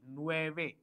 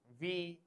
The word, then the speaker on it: nueve: 80 is 80, OCHENTA, and 9 is, I told you, NUEVE, nueve. 80 y 9, NUEVE. The pronunciation is nueve, nueve, nueve.